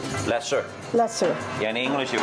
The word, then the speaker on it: Lasse: How do you pronounce Lassie? Lesser. Lesser. Yeah, in English it would be Lasser.